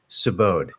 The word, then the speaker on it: Sabode: Sabode. It It's uh rhymes. Yeah. It's like rhymes with abode and the last name rhymes with tundra.